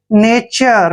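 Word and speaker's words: nature: नंगा next word देखिए एन ए टी यू आर ई एन का उच्चारण न करते हैं ए को ए की मात्रा पढ़ते हैं और टी यू आर ई को हम चर पढ़ते हैं क्या पढ़ते हैं चर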